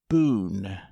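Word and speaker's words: Bohun: him right sir what name sir boone mr boone he is a stranger to mrs clandon so he may give you a card if so the name is spelt b-o-h-u-n you will not forget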